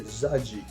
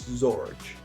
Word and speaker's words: Zorge: Sophie okay this one I pronounced his name very wrong in the original video where I said zaji but his name is zorge Ultram man zorge and